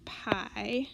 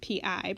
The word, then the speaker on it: pi: All these circle formulas use this symbol that looks like this, and it's pronounced pi. It's spelled P-I, pronounced pi, like the pie that you eat, right?